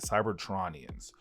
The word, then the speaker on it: Cybertronians: except they won't be known as Cytronians or Cytronians, Cybertronians, I think how you say it, Cybertronians.